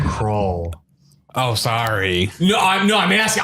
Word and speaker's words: Krull: Crawl. Oh, sorry. No, I'm asking. I thought you were like fixing my pronunciation. Yeah, no, yeah. Like I thought I did it right. Crawl. Yeah, it's like a skull, Okay.